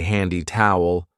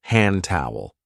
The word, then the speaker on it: hand towel: We don't usually say handy towel. We link it and we say hand towel.